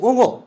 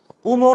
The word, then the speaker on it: ঙ: যেহেতু এগুলো কোনোটাই সন্ধিবদ্ধ শব্দ না, তাহলে এই উঙো উচ্চারণটা কিন্তু উঙো, উমো না। কথা শুনে যেন মনে না হয় যে উমো চুমুর সাথে একটু রিলেটেড, তা উমো না, এটা উঙো।